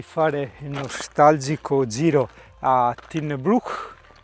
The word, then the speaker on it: Tighnabruaich: Ma prima di fare il nostalgico giro a Tin Brook, si pronuncia così, Tin Brook, come dicea Charles, no?